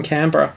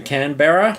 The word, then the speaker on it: Canberra: Cottage you're right in Canberra hmm that's another one there's another Australian pronunciation for you our capital siembra is Canberra yeah Canberra yeah Americans say cannon Berra and Barry and Berra